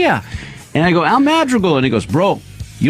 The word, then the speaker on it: Madrigal: It's Madrigal. Madrigal. I All right. say it wrong. Madrigal. You say your own last name wrong.